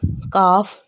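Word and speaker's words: calf: काफ है, L के बाद F आया तो F की वजह से L प्रोनाउंस नहीं होगा।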